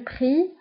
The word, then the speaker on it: prix: Le prix, هنا أيضا X في آخر الكلمة لا تنطق. Le prix, الثمن, le prix.